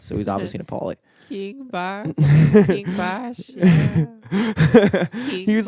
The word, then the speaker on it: Bach: is that what it's pronounced? BACH, like Bach.